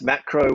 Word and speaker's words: Maqro: us firstly it's a macro is that how you pronounce the uh the company and tell us about what you're offering exactly yeah that's macro with a q m-a-q-r-o yeah so effectively what